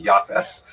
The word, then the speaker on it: Yafes: Uh he has a son named Jaffith in the Ashkanazic pronunciation that would be Yafes.